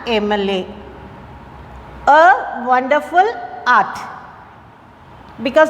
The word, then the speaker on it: MLA: Here, as I told before, M it starts with E and M pronunciation. So, an MLA.